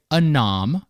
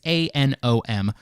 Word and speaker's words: ANOM: to jump in really broadly here how did anom and I hope I'm pronouncing that correctly it's a n o m how did aom work on the government side